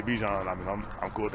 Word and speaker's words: Bijan: been pronouncing your name how you pronounce my name is is Bijan okay that's how you say my name but I say I say Bijan okay um and I